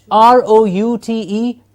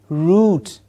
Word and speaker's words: root: the root yes root you will have the Americans having a different pronunciation for this calling it a route but for us standard good English pronunciation ro ute root okay of course the